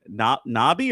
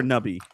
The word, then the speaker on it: Nobby's: This live stream brought to you by Nobby or Nubby?